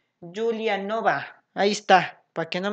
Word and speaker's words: Giulianova: no puedo pronunciar y se pronuncia giulianova exacto gracias a si así lo entiendo más en español no en no en italiano porque no notarlo italiano julian no va ahí está para que